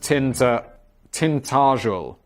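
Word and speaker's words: Tintagel: I live in the Cornish village of Tintteral, pronounced tint tintel. Tintageel.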